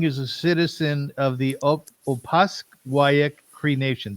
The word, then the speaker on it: Opaskwayak: Ken Young is a citizen of the Opaskwayak Cree Nation. Did I say it correctly? Opaskwayak Cree Nation. Cree Nation, yes.